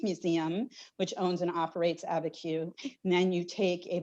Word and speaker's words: Abiquiu: and I'm not going to be able to pronounce, but it's Georgia O'Keeffe's place. Is it Abiquiu? Yes, at her Abiquiu home and studio, which is outside of, which is a ways out of Santa Fe.